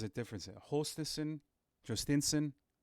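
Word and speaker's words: Jhostynxon: Hostison, Jostinson. I listened to his pronunciation. If you go to the Sea Dogs website, they have the players saying their names, and he says Jostinson.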